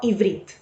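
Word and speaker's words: עברית: vamos a dar comienzo el hebreo en hebreo es pronunciado y brit así que si me escuchan decir y brit quiere decir hebreo y es como dije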